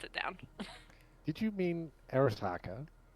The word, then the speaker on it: Arasaka: Did you mean Arisaka?